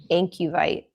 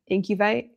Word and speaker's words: Incubite: Um, team member just messaged me telling me that I've been spelling or pronouncing something wrong the entire time. So, it's Incubite potions. I don't know what I was saying. Incubite. incutive.